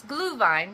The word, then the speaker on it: Glühwein: And I know most people would pronounce it Glühwein, but it's Glühwein because it's German.